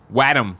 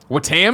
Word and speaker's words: Wattam: Wattam is how Wattam, because that does. That's how I just did that right it's now. Wattam, like Watto, Wattam. I have. I'm gonna say Wattam from here on out.